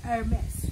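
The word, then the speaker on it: Hermès: Ganun yung pronunciation, hindi wala yung H, Hermes.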